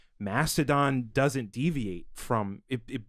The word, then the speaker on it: Mastodon: The name is three syllables. Or Republicans. Mastodon.